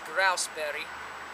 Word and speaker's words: grouseberry: conclusion that it's a gooseberry and we're going to go pick grous actually the pronunciation is grouseberry for all of you guys you know Goose Grouse pheasant Grasse berries but to me they